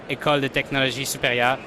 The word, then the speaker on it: École de Technologie Supérieure: And can you pronounce the name of your university so I don't butcher the French, David? So the name of the university is ETS. It's for École de Technologie Supérieure.